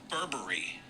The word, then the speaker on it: Burberry: Burberry spelled like Burberry though. It's pronounced Burberry. Because it's British.